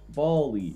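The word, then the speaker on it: Bally: Bali. Bali. Like Bollywood? No, just Bali.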